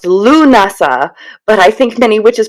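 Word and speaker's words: Lughnasadh: I later read it's pronounced Lunasa, but I think many witches prefer to say Lamas because because of its forgiving lack of Celtic consonants.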